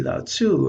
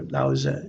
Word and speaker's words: Laozi: it would probably be lao tzu or laozi is probably the better pronunciation the author of the